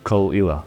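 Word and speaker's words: Caol Ila: one that looks simple but it isn't it's kalila we've heard many variations of pronunciation for this but as Kelly says the correct pronunciation is Kila this means sound of Isa in GAC it's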